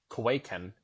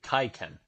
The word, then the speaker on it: kaiken: yep okay so orthography due to pronunciation changes over time the Blade's name has shifted from kuwaiken to kaiken so kwaiken is the quaken is the older version and Kai Ken is the newer way of referring to these